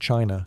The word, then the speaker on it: qi: In ancient China, health was never just about flesh and bone. It was about energy. The invisible, vital force called qi, pronounced chi, flowed through every living